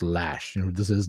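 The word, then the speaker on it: Loesch: from you know Dana I want to say Lo but apparently it's pronounced lash you know who this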